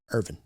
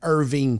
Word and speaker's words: Irving: Out there in Irving. Irving. Yes. Yeah. Michael Irvin played in Irvine, Texas. Al Michaels. He always butchered that on Monday Night Football.